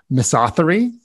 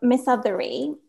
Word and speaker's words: misothery: how to pronounce it miss authory m-i-s-o-t-h-e-r-y yes so this is a word that jim mason coined in his 1993 book um miss othery i think the southerner oh miss othery okay i get it or